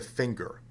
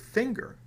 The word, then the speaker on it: finger: that's not a singer why do we pronounce the word finger with a hard g and the word singer